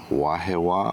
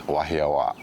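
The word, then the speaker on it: Wahiawā: Well, when we stack ourselves up against them, the pronunciation is wahawa. And there's a slight, you know, hold on that last a wahi means a place essentially, and awa is a loud noise.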